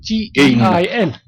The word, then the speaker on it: Gein: I'm not sure if I'm pronouncing that right, but it's spelled G-E-I-N.